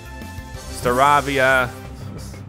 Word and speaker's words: Staravia: Staravia.